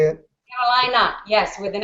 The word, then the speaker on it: Carolina: Carolina.